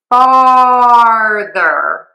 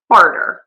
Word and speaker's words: farther: So people say is farter. And to fart means to pass gas in English, which is when